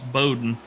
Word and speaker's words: Bowden: he thinks that uh Slim's name's pronounced uh Beau like bow and arrow James Bowden oh so Brown's right